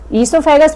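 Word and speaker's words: oesophagus: इससोफेगस में ओ साइलेंट रहता है।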